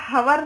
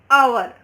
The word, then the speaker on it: hour: HOUR हवर नहीं बोलते, क्या बोलते हैं? HOUR आवर, ओ से प्रोनाउंस होता है और आवर।